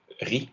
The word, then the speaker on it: riz: Et Z muet, il y en a quelques-uns, comme dans né, ra ou riz, du riz, par exemple. R-I-Z.